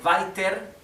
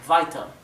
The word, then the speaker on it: weiter: Recuerden que la ER al final la R es casi imperceptible y se pronuncia casi como si fuera una A, ¿sí? En vez de decir weiter, diríamos weiter.